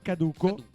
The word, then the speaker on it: caduco: Infatti, essendo caduco, Caduco, con l'accento sulla U.